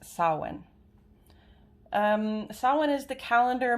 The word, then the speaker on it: Samhain: the week which culminates in the holiday holiday sawin now i learned this today i've been pronouncing it samhain but this is a celtic celebration and it is actually a pred pronounced sawin um someone is the calendar middle point between